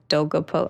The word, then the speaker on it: Dolgopolov: And even when you talk about Alexander Dolgopolov, how do I pronounce that?